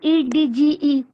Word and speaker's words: edge: Ma'am EDGE. Yes, very good. Age, EDGE. Age means किनारा. हम G को pronounce करते हैं बट D को नहीं करते, H बोलते हैं.